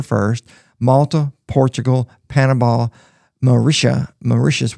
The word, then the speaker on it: Mauritius: Malta, Portugal, Panama, Maitia, Mauritius, which which rhymes with delicious.